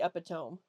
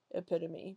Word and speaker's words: epitome: I've heard people say epitome. When I was younger, like a kid, I thought it was pronounced epitome. I didn't know it was pronounced epitome because I'd never heard it pronounced before.